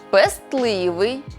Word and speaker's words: пестливий: слова-винятки які потрібно запам'ятати у цих словах винятках звук т у вимові зникає але на письмі зберігається можемо більшість із них запам'ятати за такими рухами створюйте за мною зап'ястний пестливий кістлявий хвастливий нарешті назбираємо